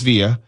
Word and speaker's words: Villa: to pronounce my name just say via everyone knows via like rye bread and ghost you call if you